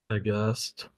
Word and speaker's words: aghast: Aghast.